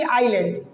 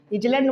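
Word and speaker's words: island: हैं ऑन the lonely आइलैंड, lonely मतलब होता है अकेला, आइलैंड मतलब होता है द्वीप। क्या होता है, इजलैंड मत पढ़ना, आइलैंड पढ़ना, इज साइलेंट रहता है।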